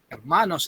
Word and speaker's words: Hermanos: and sisters or brothers Hermanos hermanus H is silent in Spanish uh the next part